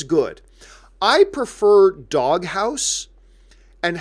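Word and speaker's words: Doghaus: I prefer Doghouse, and house is spelled H-A-U-S, like house.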